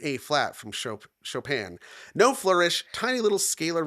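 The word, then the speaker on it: Chopin: This is his response to uh her piece Nocturn in a flat from Shopan or Chop. Why do I keep saying it that way? Shopan. I don't know. Because it's spelled chopping.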